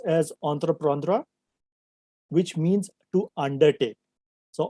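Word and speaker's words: entreprendre: a french verb which means uh which is pronounced as anthraprandra which means to undertake so entrepreneur means to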